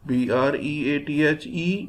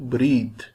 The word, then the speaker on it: breathe: a t h breath b r e a t h e breathe if there is e at the end it will be a verb and it will be pronounced as breathe if e is not